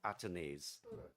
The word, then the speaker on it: Athanaze: on the leg side or should I say atones yeah I think uh We've we've had various pronunciations for his name but he himself has said his name is called atanes so good to hear that atanes and it's one of